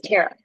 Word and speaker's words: Tara: You are saying my name correct. It is Tara.